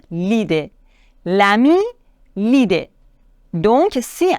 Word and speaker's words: l'idée: on doit dire l'ami là il est difficile à prononcer on doit dire l'idée l'ami l'idée donc si